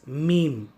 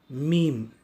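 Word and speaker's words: ميم: This is similar like the Tamil Ma, the Hindi Ma, and the letter M in English. To pronounce Meme, you will have to close your mouth with a little opening of your mouth. You have to say Meme, Meme.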